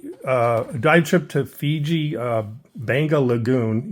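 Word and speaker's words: Beqa: We recently took a dive trip to Fiji, Banga Lagoon. Even though it's spelled B-E-Q-A, it's pronounced Banga by the local Fijians.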